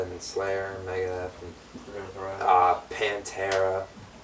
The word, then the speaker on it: Pantera: You still said it wrong. Pantera. Pantera.